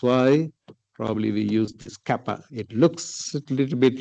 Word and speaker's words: kappa: But actually it's a Greek letter it is pronounced kappa.